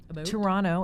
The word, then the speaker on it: Toronto: Well, I did grow up in Toronto, Canada. Toronto, as we say. We don't pronounce that T.